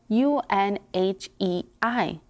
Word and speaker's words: Unhei: no unhey corrected spell u n h e i it's pronounced unhei oh it's yohei the buoyance like you hey what about hey you